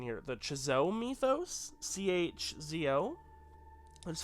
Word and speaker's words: Chzo Mythos: They're called the, and I might butcher the pronunciation here, the Chzo Mythos, C-H-Z-O.